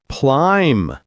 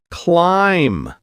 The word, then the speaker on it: climb: Climb. The B is silent. Climb.